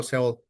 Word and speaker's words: Sheol: Perdón, es que lo pronuncié en inglés, pero Sheol.